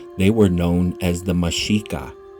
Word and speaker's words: Mexica: Before the people of Misraim were rebranded as Aztecs, they were known as the Mexica. The X is pronounced she.